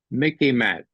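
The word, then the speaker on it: MICIMATT: might take this down Mickey Matt okay sort of rhymes with Mickey Mouse it's the military industrial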